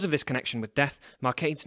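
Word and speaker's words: Marcadé: calling her laundry but the accent on the e of mark aides name would make his name sound more like market e one final way Shakespeare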